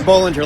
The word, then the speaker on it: Bollinger: on she likes to pronounce it Bollinger like bowling thank you different pronunciation